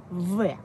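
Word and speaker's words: В: Ensuite, on a la lettre V. Donc, le B, c'est V.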